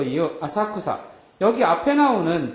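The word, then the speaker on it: 浅草: 센소지 또 이유 아사쿠사 여기 앞에 나오는 절 이름에서는 똑같은 우리말로 읽으면 야틀천자에다 풀조차를 써서 천초라고 써놓고 센소지라고 있는데 그 뒤에 나오는 단어에서는 뭐라고 읽어요? 아사쿠사라고 읽는 거죠.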